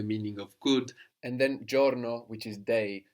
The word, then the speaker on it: giorno: of good and then Giorno which is de spelled GI all are and all so sometimes the I in Italian won't be heard that clearly like here we don't